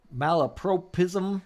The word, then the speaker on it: Malapropism: Malapropism?